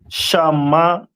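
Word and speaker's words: שמעון: And Simeon is pronounced in the Hebrew as Shamaiwan.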